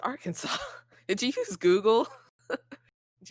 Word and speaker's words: Arkansas: No, it's pronounced Arkansas.